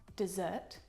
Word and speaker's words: desert: It sounds like dessert, but it's spelt like desert.